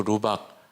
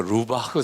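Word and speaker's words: Laubach: 저에게 가장 큰 도전을 주었던 그 계기가 되었던 분이 프랭크 루박 선교사입니다. 그냥 정확한 발음으로 하기는 쉽지 않은데 프랭크 루바흐 선교사라고 해야 되나요? 근데 우리 생명의 말씀사에서는 프랭크 루박이라고 그냥 그렇게 번역을 했더라고요.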